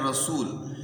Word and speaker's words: رسول: پڑھ دیتے ہیں، اور را پر زبر پڑھنی ہے رسول۔ پھر رسول کی جو لام ہے اس پر بھی پیش پڑھنی ہے، اس پر بھی کچھ